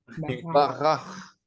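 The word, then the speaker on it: בָּרַךְ: Il faut bien prononcer le ch. Barak. Barach.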